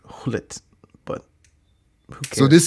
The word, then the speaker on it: Gullit: what did I say gullet oh cuz I pronounced the G and it's not I'm sorry my bad my I think I think it's hit but who cares so